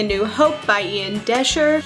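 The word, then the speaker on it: Doescher: The next book that I read was William Shakespeare's Star Wars, Verily a New Hope by Ian Desher, which is actually how you say his name. It's not Dosher.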